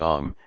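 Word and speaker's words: homme: a piece of bark he learned from d arnot that it was pronounced om and in the same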